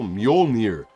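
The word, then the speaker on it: Mjölnir: with his lightning from Majol Muolnir as it's pronounced, right?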